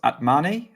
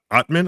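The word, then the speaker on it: Atmane: Atman, I think they were saying Atman, Terence Atman. Maybe that's the English pronunciation, and I'm completely butchering it. Like the E should be more or less silent in French.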